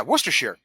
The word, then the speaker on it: Worcestershire: Is it always a Sheer? Like anything that is a... Yes. Okay. Yes. Yeah, Worcestershire. Sure. Yeah. Worcestershire. Yorkshire, Leicestershire, yeah. What about where the hobbits live?